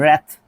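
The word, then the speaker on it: wrath: रैथ, इसको pronounce करते हैं, जब भी डब्ल्यू के बाद आर आएगा तो आपका डब्ल्यू क्या हो जाएगा, साइलेंट हो जाएगा, तो आर से स्टार्ट होती है गाड़ी।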